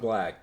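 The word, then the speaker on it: 6LACK: repost a fucking a 6 Lakh song. 6 Lakh. I'm pretty sure it's pronounced black. It's 6 Lakh. Okay, it's 6 Lakh. You don't make your name 6 LACK and tell me it's black.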